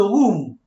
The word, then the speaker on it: rhume: See the word, it pronounced like the word room in English. J'ai le rhume.